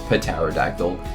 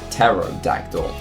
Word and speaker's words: pterodactyl: with the letter P the p is silent because you don't say pterodactyl you say terot dactal which is a very